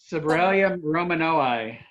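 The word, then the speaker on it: Sobralia romanoi: So I'm saying it wrong, John. You say it right. I got the Romano part right, but Dahlia. Sobralium romanoi.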